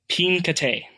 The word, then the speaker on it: Pincate: Pincate. Pincate? I's are pronounced E's, A's are pronounced A, E's are pronounced E.